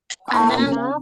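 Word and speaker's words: أنا: anta Muhammad saya Fatimah ana Fatimah Ana Fatimah Naam ana Fatimah untuk ana ini meskipun nunnya panjang tapi dia diucapkan pendek ya kan itu ada alifnya tapi pengucapannya pendek.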